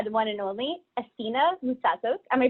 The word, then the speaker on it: Moutsatsos: I'm joined tonight by the one and only Athina Moutsatsos. Am I pronouncing that correctly?